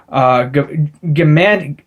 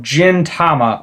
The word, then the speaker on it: Gintama: Gigtama. Oh god, I can't even pronounce this. Gigtama. Oh, Gintama.